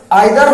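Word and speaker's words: either: इसको दूसरा प्रोनाउंसिएशन इधर और निदर भी आपको सुनने को मिलता होगा। तो this is द difference between British pronunciation and American English pronunciation. British English pronunciation में इसको आइदर, नाइदर बोलते हैं। अमेरिकन इंग्लिश प्रोनाउंसिएशन में इसको इधर और निदर बोलते हैं।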